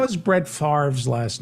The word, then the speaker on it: Favre: by the way, how is Brett Favre's last name pronounced? Favre. Oh, I got it right. It's odd. It's F-A-V-R-E, but people pronounce it Favre.